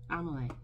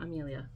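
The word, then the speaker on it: Amélie: Amelia isn't she adorable no amalay not Amelia amalay I have an Amelia too that's funny I never thought about that but I have two dolls technically with the same name but pronounce pronounced pronounced differently so amalay is from a it's a French pronunciation I do believe in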